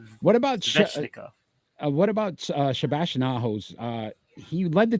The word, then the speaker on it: Svechnikov: I always Oh, say his name wrong. Natchez. Nikas. Natchez. Natchez. 39 points. Shevnevskov, Andrei Sheveknov. I knew it. I can't. 19 goals. Go ahead. You could correct that one. Andrei Svechnikov. Svechnikov.